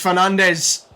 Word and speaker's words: Fernandes: God, I hate the way he pronounces his name. It's Fernandez.